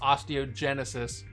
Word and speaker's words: osteogenesis: It is pronounced osteogenesis. I think I was pronounced like osteoporosis, something. All right, I'm gonna say osteogenesis now, and you can erase the rest from history in this, you know.